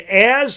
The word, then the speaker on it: Jazz: So it is going to be Az Chisholm. Again, the J is silent in jazz. It's Az.